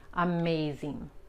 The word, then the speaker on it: amazing: Okay, la G es tan sutil cuando tenemos la ING al final de una palabra y la palabra es de más de una sola sílaba, la G casi ni se pronuncia, okay? Amazing, amazing.